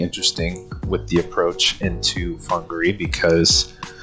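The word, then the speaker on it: Whangārei: wrong on Tuesday uh whangarei Airport looks like wangery but it is pronounced Hungary and I'm going through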